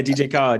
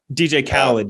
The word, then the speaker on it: DJ Khaled: name uh the rapper another one oh yeah dj card yeah yeah yeah he's a dj card yeah